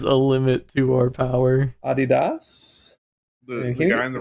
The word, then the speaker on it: Adidas: With Adidas. Is that how they say it in the Northeast? No, that's how it's pronounced. That's how it's supposed to be pronounced.